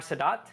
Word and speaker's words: Sadat: Am I pronouncing Sadat? Anwar Sadat?